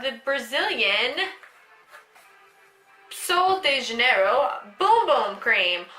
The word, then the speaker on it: Bum Bum: This is the travel size of the Brazilian Sol de Janeiro Boom Boom Cream, which is actually spelled Bum Bum, but how you really pronounce it is Boom Boom because it's Brazilian, and that is what they say instead of butt.